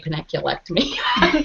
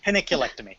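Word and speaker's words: panniculectomy: How do you say peniculectomy? That's exactly how you said it. Oh, is that how you say it? Okay. Peniculectomy, yes.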